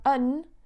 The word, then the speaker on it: an: rapid speech and then the other one unn will be exactly the same with the schwa but just with no and so you have a